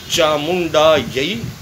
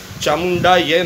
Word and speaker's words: चामुंडायै: मित्रों, चामुंडा यई, यह के ऊपर जो दो मात्रा हैं उसका संस्कृत में उच्चारण यही किया जाता है, जिसे हम हिंदी में यह बोलते हैं। आमतौर पर बोलते हैं चामुंडा यई विचे, चामुंडा यह नहीं, चामुंडा यई विचे।